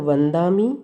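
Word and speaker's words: वंदामि: तो जो भी अनुस्वार के बाद नेक्स्ट वर्ड होगा वो जिस वर्ग का होगा उस वर्ग का अंतिम अक्षर ही साउंड किया जाएगा। अगर वो त वर्ग का है तो वंदामी, अगर वो प वर्ग का है तो बम्बचेर, ठीक।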